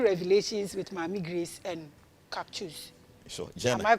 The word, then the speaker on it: Caksus: Because Sanskrit no C no obe pronounce it as CH in English. As all kinds of Charles and so Caksus.